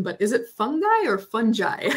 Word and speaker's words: fungi: It doesn't. Both are correct. I think with a lot of these things, I think as long as you say it like you mean it, it's okay.